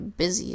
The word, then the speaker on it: busy: the US y and this word the Y makes a sound you would expect along a sound e but the you makes the sound you would not expect it makes a short I sound it which is very unusual so that's why busy is a sight word that you doesn't make